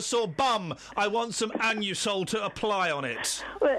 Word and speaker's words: Anusol: Listen, when I go in and buy my Anusol, that's how it's pronounced, I say it loud and proud.